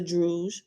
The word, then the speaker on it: Druj: Figures 4.1a and 4.1b, signs of A is a druge, rhymes with stooge, and B, druk, its mortal counterpart.